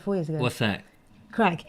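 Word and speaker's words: craic: years ago what's that crack it's spelled c-r-a-i-c but it's basically another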